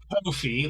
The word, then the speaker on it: Ko-fi: Uh, I just learned that uh uh uh coffee or Kofi is actually pronounced Kofi like Noi.